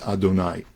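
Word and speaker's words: אדני: HaMeforash is the name Aleph Daled Nun Yud, which we pronounce Adonai.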